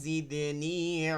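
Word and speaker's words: زدني: বিসমিল্লাহির রাহমানির রাহিম রব্বি জিদনি ইলমা ওয়াদিনি ইলমা দেখেন রব্বিতে টান নাই জিদে নিতে টান দিতে হবে ঠিক আছে টান দিতে হবে জিদে নি জিদে নি এখানে টান আছে রব্বি জিদেনি রব্বি জিদ্দে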